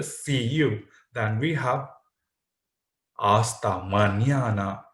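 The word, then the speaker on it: hasta mañana: you then we have aasta manana you can't see hosta maniada why because h is silent in spanish you already know one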